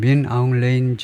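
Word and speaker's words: 민 아웅 흘라잉: its leader, 지금 미얀마의 지도자가 누구냐면 시니어 제너럴 민 아웅 레인, 영어 발음은 민 아웅 레인 정도 같은데 H 발음을 하지 않고 하여튼 시니어 제너럴 했는데 시니어 제너럴은 이제 정식으로 영어 명칭은 아닙니다.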